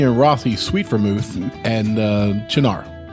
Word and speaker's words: Cynar: Martini and Rossi sweet vermouth, and Cynar.